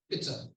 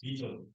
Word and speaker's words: bitter: It's an I sound which is short. So it's bitter. What I heard the person say was beta.